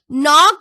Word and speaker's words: knock: Knock or knock. It is knock. So K is silent here.